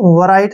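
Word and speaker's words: write: आर आई टी ई राइट नहीं है यहां पर डब्लू साइलेंट रहेगा जब भी आर से पहले डब्लू आता है ना तो वहां पर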